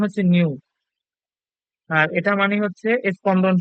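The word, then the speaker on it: ν: এইচ এর পাশে এই জিনিসটা হচ্ছে নিউ এটার উচ্চারণ হচ্ছে নিউ আর এটার মানে হচ্ছে স্পন্দন সংখ্যা আর এইচ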